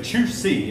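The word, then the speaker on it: Chu Hsi: Its main philosopher was Chu Si, and that's spelled H-S-U. And it's about time I changed markers. But anyway, Chu Si is the way it's pronounced.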